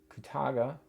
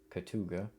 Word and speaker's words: Kootaga: First issue here for Koutaga which sometimes I think I mispronounce Katuga.